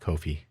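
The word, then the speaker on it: Ko-fi: But anyway, hopefully wherever you found this audio program, whether you're listening on coffee, Kofi, I say Kofi because it's spelled weird.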